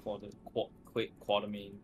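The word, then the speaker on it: Quatermain: There's no R in his name, so he's a quarter? Just quarter main.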